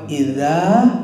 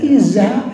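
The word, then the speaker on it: إذا: Jangan sampai lari ke za juga. Ada yang iza ya. Saya pernah dengar idza zulzilat tuh iza zulzilatil ardu zilzalah. Iza dia. Nah, itu salah.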